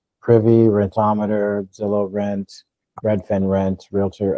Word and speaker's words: Rentometer: Rentometer. Rettometer. How do you spell that? R E. It's spelled like rent o meter.